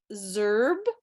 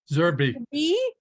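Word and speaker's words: Zerbe: for Less Tremaine and Lawson zerb Zerby that just doesn't phonologically make sense and the majority went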